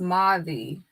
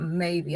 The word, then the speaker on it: Mavi: That the name is actually pronounced Mavi, not maybe. I keep saying maybe. It's Mavi.